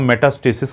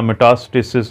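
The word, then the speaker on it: metastasis: लेकिन अगर ये कैंसर फैला हुआ हो, जिसको हम मेटास्टेसिस कहते हैं या मेटास्टेसिस, ये प्रोनाउंसिएशन गोरों की ओर है, हमारी ओर है, अगर आपका जो कैंसर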